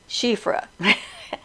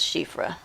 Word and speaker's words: Siofra: do you pronounce shifra shifra s i is pronounced she like the pronoun for a female she so s-i-d-h-e is the